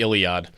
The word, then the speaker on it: Iliad: I said Idiod, not Iliad? Yeah, you said Idiod. Oh, I mispronounced.